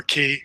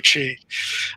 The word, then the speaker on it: qi: can do with that with the qi or key i guess you could pronounce that either way i prefer chi um is you can